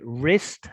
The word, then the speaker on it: wrist: know fingers thumb and wrist has a silent w like the word right yeah so wrist and